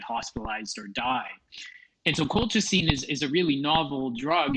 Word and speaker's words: colchicine: I hope I pronounced this right, Colchicine.